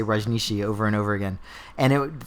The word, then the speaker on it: Rajneeshi: This was the Rajneeshi cult. Is that am I saying that the right way? You pronounced that pretty well.